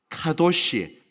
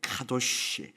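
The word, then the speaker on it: קדוש: 단어인데 한번 따라해 볼까요 카도시 들어보셨나요이 히브리어는 시가 아니고 쉬라는 발음이 굉장히 많습니다 카도쉬이 도시라는 단어 거룩이라는 단어가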